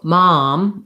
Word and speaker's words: mom: between mom and ma'am so mom ah has the ah vowel it's open and unrounded ma mom and ma ma'am ma'am has the a vow like black cat so it's more forward